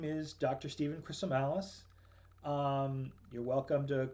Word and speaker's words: Chrisomalis: Stephen Chrisomalis. You're welcome to call me Dr. Chrisomalis. That's a bit of a mouthful, but the way I tell people to remember it is that it rhymes with gristle malice, which is two things.